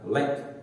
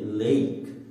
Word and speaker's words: lake: adanya di situ lalu yang terakhir juga tapi dibacanya bukan lag tapi ada huruf i-nya menjadi Lake ingat patokannya huruf a belakangnya huruf e maka